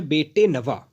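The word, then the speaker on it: bête noire: Phrase है वो है बेटे नवा। इसका जो प्रोनाउंसिएशन है वो ध्यान से आप देखिएगा। इसको पढ़ते हैं बेटे नवा।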